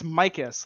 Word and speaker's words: Micus: So it's Micus, like my kiss.